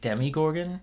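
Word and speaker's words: Demogorgon: If I had to see that demigorg again one more stupid time, I was going to explode. I don't care. Stop. That's how you pronounce that. Demi Gorgon.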